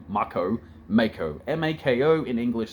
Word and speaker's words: Mako: to go off of no one knew it was pronounced Marco obviously it makes sense in Katakana or Japanese Mako if you wanted us to call it Marco you sort of spelled it differently m-a-h-k-o that says Marco m-a-k-o says Mako that's how English works